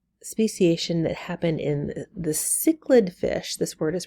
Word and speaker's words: cichlid: through are the speciation that happen in the cichlid fish this word is pronounced cichlid in Lake Victoria and Lake Victoria is found